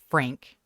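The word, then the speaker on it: Phranque: Frank. Frank? But it's not spelled like the way you're thinking.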